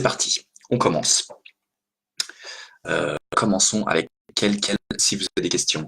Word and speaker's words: quel: Quelle est votre nationalité? C'est féminin. D'accord? Ok. Ici, quel est votre nom? Quel, c'est la même prononciation, quel, mais le nom est masculin, donc mon quel est masculin.